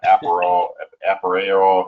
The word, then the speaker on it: Appareo: So yeah, Latin to appear, and in Aparrio, it's a tricky name. We get, it gets butchered all the time. Aparrio.